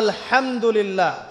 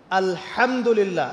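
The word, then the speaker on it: الحمد لله: আলামিন এইতো আপনি পড়ছেন আলহামদুলিল্লাহ শব্দটা কি আলহামদুলিল্লাহ এই হা এর মাখরাজ কোথায় হা এর মাখরাজ কোথায় বলেন একজন কণ্ঠনালীর মাঝখান থেকে এখান থেকে আপনি উচ্চারণ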